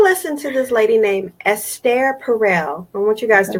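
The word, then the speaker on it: Esther Perel: go ahead I listened to this lady named s stare Parral I want you guys to write that down s stare Parral I think her name is spelled like Esther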